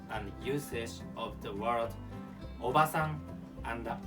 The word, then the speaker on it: obasan: The second lesson is about meaning and usage of the word obasan and obaasan.